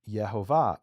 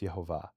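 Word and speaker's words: Yehovah: to explicitly say that if you take the vowels the way they're written in the Hebrew text, the name is pronounced Yhovah.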